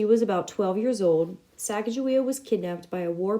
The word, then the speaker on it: Sacagawea: words in their journals the pronunciation of sagajoy's name and years since the expedition as sacajawea does not match sacagawea the way that the